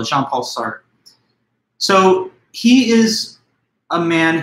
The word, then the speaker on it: Jean-Paul Sartre: The French pronunciation of the name Sartre, you know, with that soft R, it's a little hard for the American tongue to pronounce, but not too big a deal.